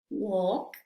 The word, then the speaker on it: walk: Aquí la L no se pronuncia, ¿sí? Vamos a ver cómo pronunciamos estas palabras. Talk, walk, should, could, have, palm.